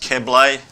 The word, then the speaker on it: Keble: And just so you know, it's pronounced Keble, Clint Keble, Paul, but he's an absolutely ripper bloke.